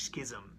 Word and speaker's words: schism: So it's very nice to feel that strange schism in reality. Schism, rhyming with schizophrenia. No.